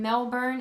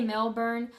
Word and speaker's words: Melbourne: They don't really pronunciate the R very much. And then Melbourne is, well, some people say Melbourne. I think from hearing them say it, it's more of a Melbourne kind of thing.